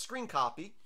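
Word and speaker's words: scrcpy: using a program called I think it's pronounced screen copy it's spelled scr cpy in repositories for most debban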